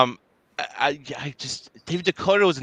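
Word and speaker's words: Decoteau: i thought it was when i heard dakota i thought it was but i didn't realize it was this d-e-c-o-t-a-u t-e-a-u yeah it's it's french so i know that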